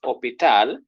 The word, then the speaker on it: hôpital: You see when H, you see H is silent, so you consider the next vowel. So it is hôpital.